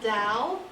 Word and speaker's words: Dal: All right, we're going to start with Dal. Yo, rhymes with pal.